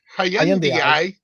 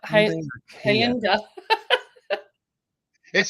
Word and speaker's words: Hyundai: Well, we've got Hyundai or as my sister would say, Hayi or something like that or Kia. I'm gonna say Hyundai or Kia. Well, now I can't even pronounce it, but Hyunda. It's just Hyundai.